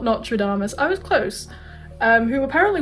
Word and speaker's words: Nostradamus: Nostradamus, not Nostradamus, I was close.